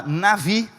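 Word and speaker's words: נביא: profeta é a palavra nave escreve como se fosse Nabi mas a pronúncia nave É explica o porquê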